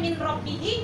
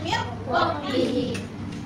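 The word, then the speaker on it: مِنْ رَبِّهِ: Oke, bacaannya min, tulisannya min robbihi, dibacanya mir robbihi.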